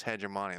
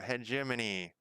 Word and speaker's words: hegemony: i think that's it i think it's hedge money let's look i don't have it up let's look hegemony hegemony oh hegemony i was wrong uh one of